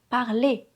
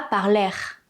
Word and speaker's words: parler: Le verbe "parler" est à l'infinitif, donc je prononce "et parler", pas "par-lair". On ne prononce pas le "r". Le "e" et le "r" font le son "é".